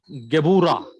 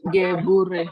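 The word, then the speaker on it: גְּבוּרָה: Gebura. Gebure. Gebura. Gebura. Gebura. After Beth is Shurek, so it should be U pronunciation.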